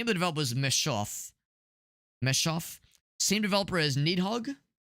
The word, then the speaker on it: Messhof: And by the way, same developers as um how do you pronounce it? So the name of the developer is Meshoff.